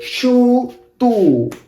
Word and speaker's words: YouTube: We say shu and then tu. Yeah, I know we don't say b here, right? But some people do say it, shutub, b, or some other do not. I mostly heard shutu, like Nico.